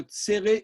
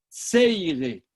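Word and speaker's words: צירה: Les Ashkenazim prononcent le tséré Ei, Seiré. Seiré, c'est diphtongué. Seiré.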